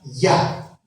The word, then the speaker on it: Jah: Ese Ja realmente se pronuncia Ya, como aleluya.